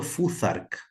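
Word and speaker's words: futhark: Esto se llama alfabeto fuzark, como la palabra three en inglés, la th que se lee como una se pronuncia como una Z.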